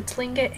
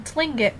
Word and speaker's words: Tlingit: said he was a Tlingit Indian pronouncing Tlingit probably with the clicking of his tongue as of saying clink he